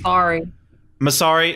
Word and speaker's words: Massari: So the soundtrack composed by our boy John Massari. I think that's how you say it. That's the thing with these. Massari. Okay, that sounds more correct.